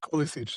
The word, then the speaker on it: Kolicich: I just very quickly want to welcome Kolicich. Actually, is that how I pronounce it correctly? Yeah, definitely. I'm just gonna. Well, is there a better way? How would you pronounce it? Kolicich, that's fine.